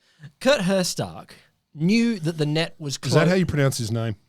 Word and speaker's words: Herzstark: cut her Stark knew that the net was that how you pronounce his name Kurt her Stark how's it spilled h-e-r-z-s-t-r-k knew that the net